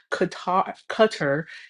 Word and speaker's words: Qatar: Also, another thing that I do think is that this whole deal is suspicious because Qatar, as that's how they told me I was supposed to pronounce it.